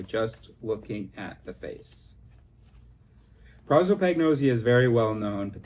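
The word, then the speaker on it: prosopagnosia: Oh, I've always pronounced it prozzoagnosia, but I see it. It's an O. Prozopagnos Prozopagnosia.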